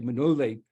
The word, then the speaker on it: Manole: Okay, so now we're coming to the Manole, as I pronounce it, the Romanians say Manole legend.